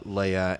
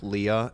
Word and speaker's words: Leah: married to both uh Leia and Rachel Leah it's spelled like Leah I don't why I keep saying Leia I haven't watched Star